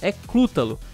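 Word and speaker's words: Cthulhu: Túlio que na verdade o jeito certo de falar o nome desse monstro ecos a Lu e o significado da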